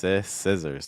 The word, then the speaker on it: scissors: Scissors with the short I scissors.